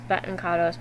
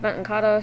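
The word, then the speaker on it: Baten Kaitos: game series which is Bon kados Bonos however it's pronounced um I pronounce it Benton kado so if you don't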